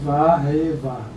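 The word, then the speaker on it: והו: A pronúncia é Vá, como diz o Roberto aqui, Vá, Rei, Vá.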